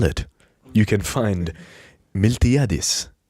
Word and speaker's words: Miltiadis: Well, if you can spell it, you can find Miltiadis, right? It's Miltiadis.